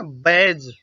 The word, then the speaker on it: badge: तो D silent होने के लिए यदि डी के बाद जी आता है, याद रखना क्या, फिर से, कि डी के बाद अगर जी आता है तब डी साइलेंट होता है। जैसे कि आपने अक्सर सुना होगा ब्रिज, है ना, बैज।